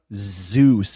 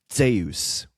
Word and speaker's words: Zeus: But the thing is, it's it's not Zeus, it's Zeus with almost like a D in it.